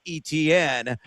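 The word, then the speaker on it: Etienne: Aan, uh, the artist formerly known as Travis ETN for those listeners uh, unaware of the proper pronunciation of his last name.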